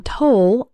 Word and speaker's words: toll: The O in toll sounds like in the words know, so, roll, and told.